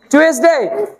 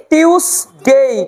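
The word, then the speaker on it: Tuesday: টুয়েসডে না, অন। এটার উচ্চারণ সঠিক করে বলতে হবে, মঙ্গলবারের দিন, তার মানে অন টিউসডে। কি উচ্চারণ বললাম? টিউসডে। ইংলিশ বানান যা আছে তাই, কিন্তু উচ্চারণ একটু ভুল হয় আমাদের, অন টিউসডে।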